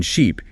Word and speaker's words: sheep: The e in sheep is long stretched out like in c she.